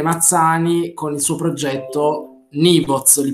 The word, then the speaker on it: Nyvoz: abbiamo come ospite speciale Michele Mazzani con il suo progetto Nivoz, li pronuncio bene?